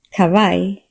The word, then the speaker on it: kavaj: When J follows A, it sounds more like a long English I. Examples. hej kavaj Q is rare in modern Swedish.